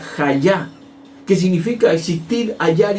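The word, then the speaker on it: היה: Viene del Strong 1961, y que significa, la palabra hebrea se pronuncia hayá, que significa existir, hallar y permanecer.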